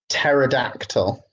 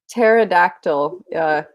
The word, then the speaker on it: pterodactyl: Pterodactyl. Pterodactyl. You don't pronounce the p. So pterodactyl.